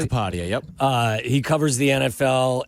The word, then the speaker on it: Sheil Kapadia: Did I pronounce that correctly? Sheil Kapadia, yep.